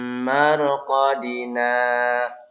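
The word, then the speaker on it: مرقدنا: Mim marqadina hadza ma. Jadi bukan menarik napas di sini, hanya berhenti sejenak. Bukan mim marqadina hadza, maka hilang di situ saktahnya ya.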